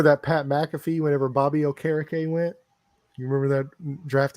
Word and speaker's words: Okereke: Future Hall of Famer, Bobby Okereke, which is actually pronounced Okereke.